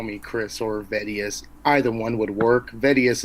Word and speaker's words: Vetivs: what is your actual name how do you pronounce that it's Vettius Vettius okay if I were to meet you